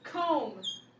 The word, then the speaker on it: comb: So this one, the letter is silent, but only if it's at the end and if it's followed with an M. Like in the word comb.